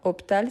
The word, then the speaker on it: hôpital: juste en face parfait pourquoi hôpital c'est un hche mué donc c'est hôpital c'est hôpital donc ici on fait la liaison le boulevard extérieur le